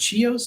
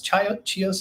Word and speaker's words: Chios: Yeah, we probably go somewhere around is it Chios? Chios, is that how you pronounce it?